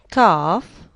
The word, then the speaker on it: calf: Calf, calm, vessel, and palm.